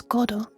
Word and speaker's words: Godot: How to pronounce Godot? Well, it's Godot for a start. Oh, Godot. Certainly not Godot.